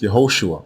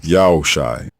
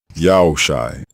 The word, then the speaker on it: Joshua: The second version is not pronounced Yehoshua or Joshua. It is pronounced Yaoshai, Yaoshai, and it also means Yao is salvation.